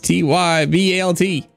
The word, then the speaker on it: Tybalt: You got to spell it right here. It's T-Y-B-A-L-T.